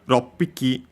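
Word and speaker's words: 六匹: Then we have roppiki. Same reason of here as ichi. Here most actually was roku, but then the u fell, so rockpiki, difficult to pronounce, so yeah, became simply doubling of the following consonant.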